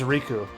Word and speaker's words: Riku: His name is Riku. Pronounced the same and spelled the same as the Kingdom Hearts character.